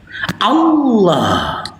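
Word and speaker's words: الله: Ya, huruf ha ini makhrajul hurufnya alhalqi bagian bawah sama dengan alif. Dan sifatnya ini adalah rakah mengalirnya suara Allah. Allah. Begitu kami membacanya.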